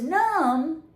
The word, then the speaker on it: numb: Okay, if your hand goes numb, You can't feel it anymore, okay?